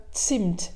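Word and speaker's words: Zimt: avec un z donc bien céline ça se prononce bien sint avec presque 20 cents ensuite on retrouve sur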